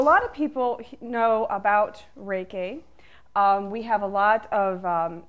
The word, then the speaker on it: Reiki: my master teacher ok Reiki is a combination of two syllables Ray which in Japan one of the most accepted meanings is universal and a key which is the same